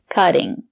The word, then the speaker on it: cutting: is a cutting board cutting the letter T is between vowels we pronounce it as the fast D cutting this is a